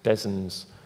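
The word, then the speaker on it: DESNZ: and responsibility ities between des's what we pronounce it des's fso off gem are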